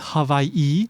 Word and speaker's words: Hawaii: If you were to talk to a local, somebody that was born and raised here where I live in Hawaii, they might not pronounce it as Hawaii. Maybe some would, but a lot of them would pronounce it as Hawaii or Hawaii.